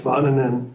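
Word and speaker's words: Väänänen: And I can't even pronounce his name. So, do you have a? It's Varnanen.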